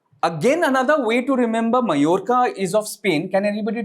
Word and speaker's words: Mallorca: It's pronounced as not Mallorca, it's Mallorca. Right?